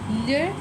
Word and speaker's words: leurs: The pronunciation is still going to be the same. Leurs valises.